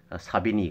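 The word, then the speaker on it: Savigny: 중에 에 사비니 2 독일 말로는 자 빈 이라고 하는데 영어식 예 영어식 발음으로는 사비니 그렇게 우리가 부르고 있습니다 그래서 어쨌든 사비니 의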